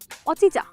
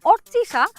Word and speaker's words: অর্চিশা: উচ্চারণ করতে পারে না আমাকে কি বলে ডাকে জানিস কি অচিচা আমার নাম হচ্ছে অর্চিশা আর সে আমাকে অচিচা অচিচা অচিচা এভাবে ডাকে এই গুহা মানুষটা কে